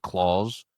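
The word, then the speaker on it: Klaus: It's just called like claws. I don't think so. I remember I remember hearing about this. I don't think I saw it though. What is this movie? It's spelled K L A U S.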